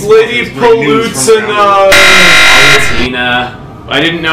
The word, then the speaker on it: Palutena: Palutena. I didn't know how to pronounce till the Uprising trailers. I called her Palutena until then. Palutena. It's like evolution, but it's, yeah.